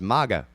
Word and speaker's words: MAGA: how is that pronounced if you added an n japanese would pronounce it manga as in the graphic novel but since there's no n in that white supremacist political movement get it it's maga so yeah he's going